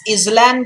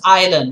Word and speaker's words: island: some silent s examples is this island guys no it's island right what about this one